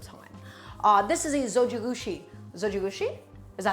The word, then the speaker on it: Zojirushi: shorter amount of time uh this is a Zojirushi Zojirushi is that how you pronounce it yes it's a zoji rushi rice